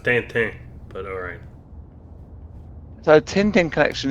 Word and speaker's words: Tintin: It's pronounced Tintin, but alright.